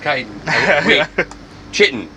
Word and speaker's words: chitin: i want to hear walt was right it's pronounced kite chitten i did it all